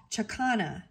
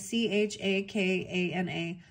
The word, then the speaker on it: chakana: geometry refers to the andian symbol of the chakana I don't know if I pronounced that right it's c h a k a n a chakana which is indicative indicative of spirit moving